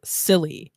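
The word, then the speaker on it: Cilley: a Dr Jonathan Longfellow silly yes his last name is Silly but it's spelled with a C he is the chief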